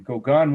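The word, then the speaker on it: Gauguin: it if you wanted you know it's g-a-u-g-u-i-n kogan was another post-imprecious painter they both had dabbled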